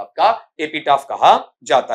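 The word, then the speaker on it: epitaph: कहा जाता है एपी एपिटाफ इसका उच्चारण एपिटेफ नहीं होगा। क्या बनता है आपका? एपिटाफ।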